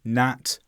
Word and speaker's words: gnat: Gnome, gnat, rain. In all of these words, the G is silent.